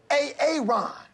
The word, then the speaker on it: Aaron: I said it like 4 times, so why didn't you say it the first time I said A-A-Ron? Because it's pronounced Aaron?